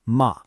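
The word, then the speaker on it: 間: This single character right here, it's pronounced ma, and it represents an entire worldview, a whole philosophy that is absolutely key to understanding this Japanese approach to space.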